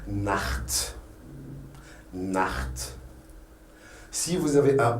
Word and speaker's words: Nacht: On la prononce dans des cas spéciaux, Par exemple, si vous avez un A avant le CH, là, on dit que c'est un cha. Le CH, ça se prononce cha. Par exemple, Nacht.